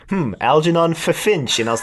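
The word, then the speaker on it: Ffinch: officer Finch spelled with two FS no it's pronounced fch it is because it's got two FS yep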